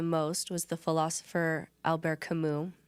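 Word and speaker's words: Camus: But the the the person that helped me the most was the philosopher Albert Kimu. It's spelled Albert Camas. Say Kimu. C A M U S.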